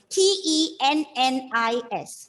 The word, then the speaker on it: tennis: double consonants in words so whenever you come across doubling of the consonants just make sure that you pronounce it as single one for example t e n n i s how do you pronounce that you shall how do you pronounce that if it is t-e-n-n-i-s once again e n and okay so don't stress on the consonant seeing that there are two it's tennis okay um five muhammad yes